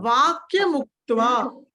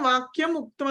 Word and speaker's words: వాక్యముక్త్వ: వాక్యముక్త్వ, వాక్యముక్త్వ, ము వచ్చింది, ముక్త్వ అంతే. వాక్యముక్త్వ. మీకు వినిపించడం వాక్యం ఉక్త్వ అనే వినిపిస్తుంది, కానీ ఇది వాక్యముక్త్వ.